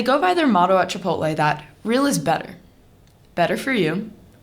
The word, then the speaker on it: Chipotle: My one grandma calls it Chi-poat-lee. My other grandma calls it Chih-poat-lay, but all of those are wrong. The correct way to say Chipotle is Chipotle.